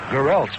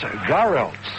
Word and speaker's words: Garrelts: Buckley and Loda that we did ask the Giants announcers how he would like to have it pronounced, I guess, and what pronunciation do they use? Garrelts. And that's what they gave you and gave all of us, Garrelts. But from the phone calls and listeners from the Champaign-Urbana area, it's Garrelts.